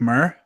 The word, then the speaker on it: Mir: dance around a bit, but it's pronounced Frank Mir. Frank Mir.